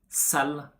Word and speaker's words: selv: And the V is silent when it's in a combination with L. So for example, we say selv, hold, or toll.